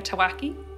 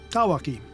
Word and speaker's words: Tawaki: I was saying Tawaki, it's not right. Ask Thomas, because he'll get this 100% right. Tawaki. Easy. There's no special pronunciation, just read what you see on the paper and it'll come out right.